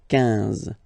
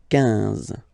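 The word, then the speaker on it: quinze: 15. 15.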